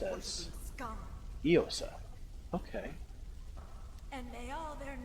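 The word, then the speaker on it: Íosa: According to the Durgar we've interrogated, the mind and one of the last things, Jesus in Irish is Iosa, pronounced as Iosa.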